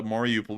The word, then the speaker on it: Mariupol: But anyways, moving on down into Mariupol, we got to hear today that a Russian base in Mariupol ended up getting hit massively by an ATACMS attack.